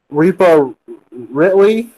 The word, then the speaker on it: Rhea Ripley: Rhea Ripley.